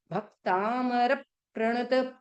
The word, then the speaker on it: भक्तामर: देखो हमने आपको रियम बताया ना कि आधा क आया तो भ पे प्रेशर दो। भक्तामर प्रणत, पीछे प और र आ रहा है वो भी हाफ वर्ड है। तो भक्तामर प्रणत मौली मणि प्रभाणा, मणि प्रभाणा।